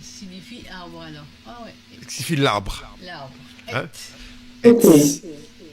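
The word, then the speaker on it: עץ: Alors le sadé c'est TS.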